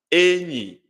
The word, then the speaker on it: Enyi: I'm pronouncing now. Enyi. Enyi. Enyi. High, low. Enyi.